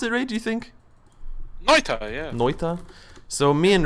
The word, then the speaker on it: Noita: And I want to open on one called Noita. Is that how you pronounce it, Ray, do you think? Noita, yeah.